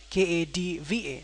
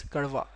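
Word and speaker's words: कड़वा: Anyway, so it's karva, right? Karva. So don't pronounce like kadva, neither pronounce like karva, right? It's not karva, it's not kadva.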